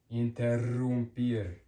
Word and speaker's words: interrumpir: Two R's makes it stronger and rolled, interrumpir, interrumpir, to interrupt, interrumpir.